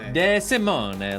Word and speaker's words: Desimone: I really appreciate it so for the Italian pronunciation deim Simone de Simone like abandon a couple